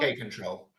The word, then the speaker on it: kapp-controller: How do you say K-control? Just K-control? K-control. K-control.